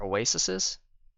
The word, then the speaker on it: Oasis: So now you can just fill this deck with more king scors and more oasises.